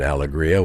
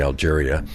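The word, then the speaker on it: Alegría: Good Fortune yeah um is easier to pronounce than alagria which is what the name we gave the vineyard uh alria means happiness in Spanish but um some people including my father-in-law would Mis pronounce that and say Algeria so um we wanted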